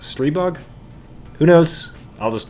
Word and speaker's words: Stribog: out of brass today we're gonna be looking at the strai bog though I actually think it's pronounced stray bug who knows I'll just